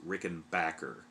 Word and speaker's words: Rickenbacker: not a rickenbacker and that is the correct pronunciation by the ways rickenbacker which just sounds wrong it sounds like you're from maine or new hampshire or something you know i had